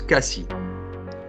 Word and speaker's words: Cassis: Attention, on prononce Cassis.